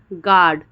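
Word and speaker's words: guard: यू के बाद में कोई वॉवेल आए तो यू साइलेंट हो जाता है।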